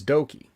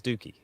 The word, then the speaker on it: Doki: thoughts on dookie that's doki no no no that's that's that says dookie is pronounced doki because as as a japanese language student obviously colin you should know how to the pronunciation works but uh yeah he's